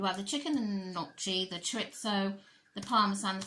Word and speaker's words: gnocchi: I keep wanting to say gnocchi, but I think she said it's nochi. Gnocchi, gnocchi, whatever, who cares.